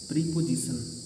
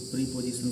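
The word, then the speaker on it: preposition: चौथा है प्रीपोजिशन, लिखा है ऐसे, पोजीशन के पहले प्री लगा है तो प्रीपोजिशन बोल देते हैं, लेकिन शुद्ध तो ये है नहीं। शुद्ध क्या है? प्रेपोजिशन, प्रेपोजिशन, प्रेपोजिशन। प्रीपोजिशन तो कदापि नहीं है, ये प्रेपोजिशन है, इसको ऐसे ही बोलना है।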